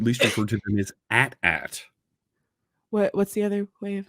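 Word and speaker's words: AT-AT: george lucas and ada it's at at it's pronounced so that it rhymes with hat hat george lucas said that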